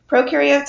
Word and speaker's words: prokaryotes: Remember, pro rhymes with no and U rhymes with do. And what is that referring to, the no and the do? Prokaryotes have no what?